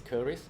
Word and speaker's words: Keris: So the Malay word for that is Keris. Mhm. So in English you can call it Chris.